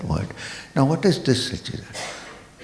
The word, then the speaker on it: Satchidananda: Now what is this Satchidananda? 3 syllables, split them. Sat, Chit and Ananda.